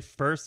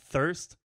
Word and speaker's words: First: Your Blood First, and no, that's not a mispronunciation, it's actually First and not Thirst, Way to Go, and Sleep and Dream.